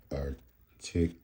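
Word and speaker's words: Angraecum articulatum: Okay, folks, according to Fred Hillevid's book of Cultivated and Cocoid Orchids of Madagascar, Arangus articulata, it says it's pronounced articulata. Okay.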